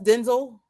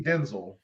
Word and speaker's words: Denzel: It's Denzel. Really? It's really pronounced Denzel. He had a whole interview. It lit up the whole internet. Yes, Mason. That his name is actually Denzel. His name is pronounced Denzel.